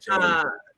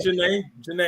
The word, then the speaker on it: Janae: don't know about that, Janie. This Janie, I don't agree with you, Janie. Oh, that's Janae. She pronounces her name. Janae, I don't agree with you.